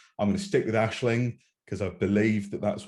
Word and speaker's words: Aisling: on that because i thought it was like aseling b and then yeah somebody pronounce it as ashling and i'm like wait and this always happens